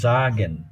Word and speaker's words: sagen: এস জাগেন, জাগেন, জাগেন, জাগেন না, ওটা long একটু, জাগেন, জাগেন, জাগেন, স্টার্ট, স্টার্ট, ইয়া, ইস্ট হাউস, হাউস, টে টাক।